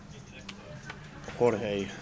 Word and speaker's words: Jorge: We've gone from French George to Spanish Jorge in the space of an hour, but thanks to those in the Jorge. chat for familiarising us on the I suppose pronunciation that's right, of because our man's they name. don't say jalapenos, do they? They say jalapenos. Jalapeno. So George begins with a J, so it's an H.